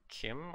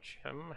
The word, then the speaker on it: CHIM: Moving on to the next month in February, this is where Kim or Chim, however you want to pronounce that.